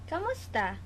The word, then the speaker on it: kamusta: Even though it's spelled completely different, kamusta, it sounds like como estas, but like kind of pronounced weird and quickly.